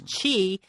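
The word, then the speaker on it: qi: so they believe that this life force which we pronounce Chi if you can unblock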